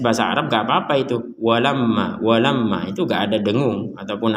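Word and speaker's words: وَلَمَّا: Walamma ja'ahum, berhenti sebentar karena ini pembelajaran, jadi kita berhenti di tempat-tempat ataupun akhir dari kata. Walamma di sini ada mim bertasydid, maka kita bacanya dengan dengung.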